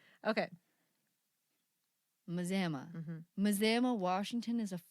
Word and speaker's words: Mazama: There's no N there. You just like threw an N at the before the Z there. That feels right. There are silent letters It feels all the right. time. Apparently, this word has a silent N in it, you guys.